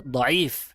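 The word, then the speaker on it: ضعيف: Yang mengatakan pertama salah pengucapan secara besar bukan diif tapi yang benar diif dipanjangkan ainnya bukan dotnya. nya langsung dikatakan diif min aslihi.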